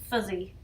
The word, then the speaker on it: fizzy: Some Kiwis, though, would actually pronounce that as fuzzy.